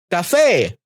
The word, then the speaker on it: café: If a word ends with a vowel, an N, or S, and is stressed in the final syllable, it requires an orthographic accent.